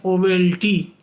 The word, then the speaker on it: owelty: वो वर्ड का स्पेलिंग है O double E एल टी Y pronunciation है ओवेल्टी अब ओवेल्टी किस जानवर